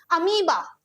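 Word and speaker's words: amoeba: अमीबा, ये आपका unicell होता है। प्यारे साथियों, अमोएबा नहीं होते, अमीबा होता है, ध्यान दीजिएगा इसकी प्रोनाउंसिएशन में, ये आपका अमीबा होता है।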